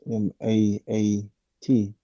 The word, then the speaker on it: Maat: words, and because it's pronounced Maat, then um certain certain sounds I struggle with.